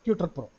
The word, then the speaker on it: TutrPro: So the URL is TUTRPRO. I spell it as I pronounce it as Tutor Pro.